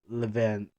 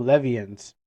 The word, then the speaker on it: Levians: No, not Levans. Hey Google, I need your help. Google, you're gonna tell me how to pronounce this word because you know. Let's go to Google Translate and stuff like that. I got scared my own by my own shadow. Wait, let's check this out. Levions. Oh, Levians. Okay, my bad. I mispronounced the name.